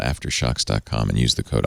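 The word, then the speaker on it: AfterShokz: warranty I love my after shucks it's after shocks spelled with a k Z at the end aft ER sh o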